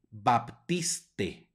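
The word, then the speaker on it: Baptistae: palabra que significa Bautista tiene una ae que es diptongo por lo tanto solo va a sonar una e baptiste baptiste Vamos adelante acá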